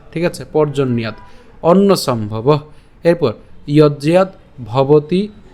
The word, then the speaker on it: পর্জন্যাৎ: সুবিধার জন্য ভাঙছি, কিন্তু উচ্চারণ একসাথে আমরা করবো, তার মানে উচ্চারণটা হবে পর্জন্যাৎ। ঠিক আছে, পর্জন্যাৎ অন্ন সম্ভব।